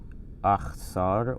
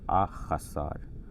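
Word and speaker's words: אֶחְסָר: And you can say achsar or achasar, but the diacritical marks here from the Masoretes in Tiberias from around 1000 AD, they are telling us to make this sort of two syllables, ach, sar.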